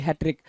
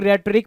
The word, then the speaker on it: rhetoric: कुछ लोग रेटरिक पढ़ सकते हैं, पढ़ने में कुछ भी नहीं जाता भाई, याद रखना होगा। हैट्रिक पढ़ते हैं, वैसे इसको हैट्रिक पढ़ते हैं, RHE, जहां पे R साइलेंट होता है, RHETORIC, हैट्रिक, डन है।